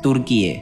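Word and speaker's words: Türkiye: 1920 থেকে 1923 সালে এসে আঙ্কারা তুর্কি সরকার সরকারিভাবে কেবল তুরস্ক নামকে বেছে নেয়, তুর্কি ভাষায় যার উচ্চারণ তুর্কিয়ে।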